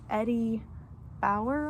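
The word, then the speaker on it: Eddie Bauer: this is pretty great it's Eddie bow I think is how it's pronounced but it's just a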